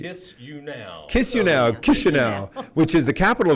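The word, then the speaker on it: Chișinău: But if I was living in Chisinau, or how do you say it? Chisinau. See, I'm only... Kiss you now.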